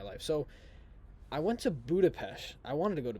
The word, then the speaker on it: Budapest: 14th I wanted to go to Budapest okay Budapest you might be wondering why I said it like that that's how they pronounce it blah blah blah but it's a